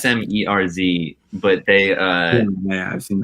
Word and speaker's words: Smerz: That band Smurs, I think that's how you pronounce the name. the Norwegian Is duo. there, like no vowels in it or some shit. I feel like No, it's SMERZ, but they yeah, I've seen that.